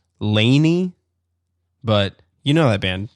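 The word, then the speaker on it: LANY: And then we got, I think it's pronounced Laney, but you know that band, Jason. Capital L, capital A, capital N, capital Y. Lonnie? Yeah, I think it's Laney for sure.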